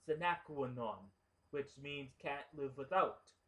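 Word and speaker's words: sine qua non: The guy works for Secret Service, so carrying a gun is a requirement, or in Latin, it's pronounced sinaquanon, which means can't live without.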